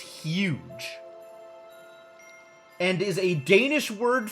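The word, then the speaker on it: hygge: Heeg? Heeg? Excuse me? Hang on, we're Googling this one too. Apparently it's pronounced huge.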